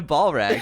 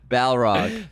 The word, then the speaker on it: Balrog: Balrog. Balrog. Balrog. In my head, I spell it right and everything. But you always say ball Ball rag.